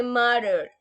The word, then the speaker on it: matter: La doble T en inglés se pronuncia y si está entre dos vocales se va a pronunciar como una R. What's the matter?